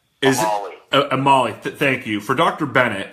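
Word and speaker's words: Omalu: this question, and help me out if I pronounce this wrong. For Dr. Bennett Amoller or Dr. Bennett Amir? Amali.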